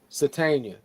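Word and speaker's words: Sategna: Satania.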